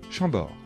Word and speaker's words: Chambord: chenonceau et le château d'amboise attention de bien prononcer les noms de châteaux répétez après moi chambord le château de chambord blois le château de